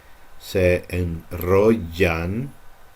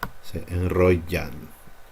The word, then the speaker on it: enrollan: Just make it like a slightly harder Y, perhaps. Se enrollan en la luz de tu cintura.